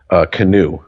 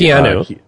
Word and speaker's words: Keanu: Who made that movie Canoe. Or excuse me. Keanu. Keanu. Well, that's how it's spelled. What the fuck? No, it's spelled Keanu.